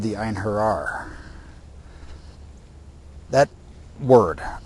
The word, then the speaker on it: Einherjar: But the hero warriors were called the Einherjar. That word, Einherjar, E-I-N-H-E-R-J-A-R.